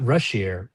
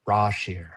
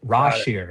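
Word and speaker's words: Rasheer: It's the not Rashier, Rashir. That's okay. Okay. Pronunciation pronunciation guide straight straight from the the the source the naming source is just for the record. So raw cheer like raw like you're cheering but dude he has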